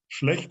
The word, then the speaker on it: schlecht: Yeah, schlecht is very Genau. good pronunciation, by the Yeah. way. That's very difficult to describe this CHT, which is schlecht.